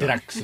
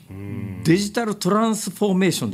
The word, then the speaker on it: DX: んですよこれがデラックスですねところですね最近は DX と書いてあるとあれはデラックスと呼んじゃいけないらしいですねデジタルトランスフォーメーションですか私は詳しくない